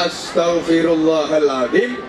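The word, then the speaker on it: أستغفر الله العظيم: Kemudian te, ini beda dengan T karena T, astaghfirullahaladzim.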